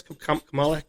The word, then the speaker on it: Kamala: Kamala Harris.